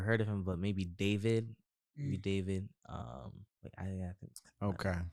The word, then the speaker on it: D4VD: No, David is it's spelled D4VD.